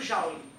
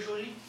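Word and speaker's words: Joule: nome disse é efeito Jauli certo Jauli é o que é que como se pronuncia no Brasil né na verdade seria Joli Joli aí também B aqui fazer biquinho nessa hora né então efeito Jau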